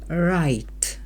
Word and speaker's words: write: I'll Learn to write перша літера w не читається write писати і після цього